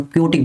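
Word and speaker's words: chaotic: हम लोग बोलते हैं चॉटिक बोलते हैं, या फिर कौन क्योटिक बोलते हैं इसको, ये मतलब प्रोनाउंसिएशन में आता है, क्योटिक बोलते हैं, ठीक है।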